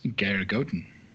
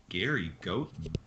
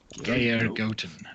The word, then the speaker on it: Geir Goten: It is Geir Goten. Gary Goat. Geir Goten. And I will type that into the chat so that people can see how that is pronounced.